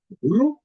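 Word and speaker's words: ऋ: So, E, U, Ru, Ru. Most of them, this many Sanskrit videos that I've seen, they start pronouncing it Re. Re. That is wrong. It can be in Hindi, but not in Sanskrit. Sanskrit, it is Ru, Ru.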